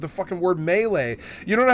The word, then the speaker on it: melee: This is not a meie worm. Like me e a l y. It's melee. You dumb It's a French word.